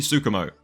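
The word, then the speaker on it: Tsukumo: by the slightly unhinged special grade sorcerer Yuki sukumo see that said it right that time Yuki's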